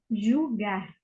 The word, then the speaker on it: julgar: En portugués, julgar. Jugar. Julgar. Como si fuesen dos U, porque jul con L.